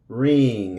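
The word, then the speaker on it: wring: So we're going to, the W is silent and the E will be silent also. Right, right. Wrong, wrong. Wrench, wrench. Ring, exprimir, ring.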